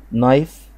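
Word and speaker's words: knife: فورك شوكة، نايف سكينة، الكي سايلنت، كي سايلنت، فبقت الكلمة اسمها نايف. لو انا شلت الكي كأنها مش موجودة، بقت القاعدة اللي احنا لسه واخدينها، الاي ورا وراها اي، فبقت اسمها نايف.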